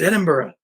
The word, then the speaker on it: Edinburgh: I opened up that call and it was Edinburgh Scotland and my mom's like no no no it's it's Edinburgh and I was like what I was like